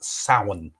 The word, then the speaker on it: Samhain: originally a thing called it's spelt samhain but it's pronounced sauen which was the old